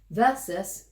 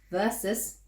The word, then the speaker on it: versus: Say it properly. Versus, not versus. It's spelled Who did you V-E-R-S-U-S. sound like when you did that? You sound like someone when you said that. 3PO. No, not 3PO. It's spelled V-E-R-S-U-S. It's not okay, it's not how you pronounced it, it's more versus.